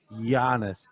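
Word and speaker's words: Giannis: languages so this family his name begins with the G the euro begins with a G so you pronounce his name be honest so it's the ear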